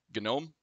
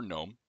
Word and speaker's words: GNOME: works with freesync out of the box however genome or gnome depending on your preference on how to pronounce that Ubuntu Weyland freesync does not work